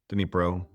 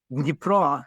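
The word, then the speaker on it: Dnipro: So, we went to Denipro. I'm pronouncing that correctly. Dipro, if you want the official, but that that works. Everybody understands.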